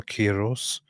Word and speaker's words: Cyrus: in into Latin was adopted as as chir cherus or keros and it's just because of the stupid English pronunciation of whatever starts with c that we change it all into a different weird weird pronunciation. It's actually a very very recent corruption that in English we just took this whole thing and started calling it Cyrus.